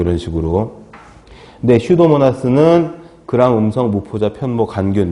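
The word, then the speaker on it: Pseudomonas: 기타 해서 슈도모나스. 슈도라고 읽어요. 슈도. 푸슈도 아니고 슈도예요. 슈도. 피가 묵음이래요. 묵음.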